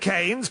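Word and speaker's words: Keynes: Like all good, charismatic, bisexual men, there are two ways to pronounce his surname. But he himself Bowie Bowie. But his always said canes perhaps so as not to be associated with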